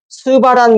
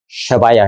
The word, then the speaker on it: 쉐바: 지격하면 스바란 말은 원래 발음은 뭐예요? 쉐바야.